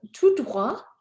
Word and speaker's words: tout droit: So tout droit is not followed by a vowel. You will not hear the T.